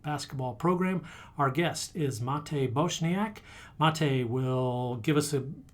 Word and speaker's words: Matej Bosnak: Okay, so the real pronunciation is Matej Bosnak, but I know that for the English speakers it's pretty tough. So anything close to that, I'm gonna take it.